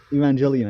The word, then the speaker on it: Evangelion: are gonna talk about Evangelion I think are we you're me it's pronounced Evangelion but sure Evangelion be even